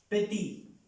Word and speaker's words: petit: Petit. Esta X, perdón, esa T no se pronuncia.